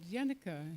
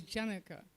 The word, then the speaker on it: Janaka: name and we said Yanuka he said oh no you're just spelling it wrong you're pronouncing it wrong his name is Janaka so that was the